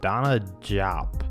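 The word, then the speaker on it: DeSagana Diop: Now next up we have this guy, whose name looks like a brand of pasta sauce but is pronounced Donna Diop, and I have no idea how that works, but I guess it's besides the point.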